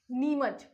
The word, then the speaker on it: नीमच: ठीक है, नीमच, चम्मच टाइप का कुछ प्रोनाउंसिएशन आ रहा है, तो ये हो गया नीमच।